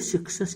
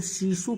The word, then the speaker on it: Cixous: The laugh of Medusa 1975 हेलने सिक्सस की है। तो सीसू प्रोनाउंसिएशन होता है, हेलने सीसू, तो हेलने सीसू की